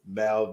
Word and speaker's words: Mal: So it is Mal the Mover.